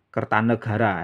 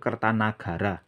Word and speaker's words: Kertanagara: itu adalah nama Sansekerta dalam bahasa Sansekerta tidak ada kosakata negara yang ada itu Nagara ya jadi jangan karena kita sering bicara bahasa Indonesia lantas nama orang pada era Jawa kuno di disebut menggunakan ejaan Indonesia Kertanegara itu keliru yang benar itu kertanagara ya jadi saya pilih